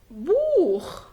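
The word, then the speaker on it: Buch: إذا جاء حرفين السيها وقبلهم أ أو أو الحرفين المركبين أو أو بينطق خ، يعني مثلا أوخ، أيضا أوخ، ناخ. جرب هنا بوخ، أوخ يعني أيضا، ناخ يعني إلى، بوخ يعني كتاب.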